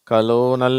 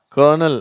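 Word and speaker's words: colonel: வதி certain கர்னல் சரியா இந்த வார்த்தையில ஆரே இல்ல இருந்தாலும் அந்த உச்சரிப்பு இது கலோனல் அப்படின்னல்லாம் படிக்கிறாங்க அது தப்பு இது கர்னல் அதுதான் கரெக்ட் சரியா சொல்லுங்க கர்னல் கன்வர்ட் இதுல கான்வர்ட் அப்படின்ற ஒரு வார்த்தையும் உண்டு.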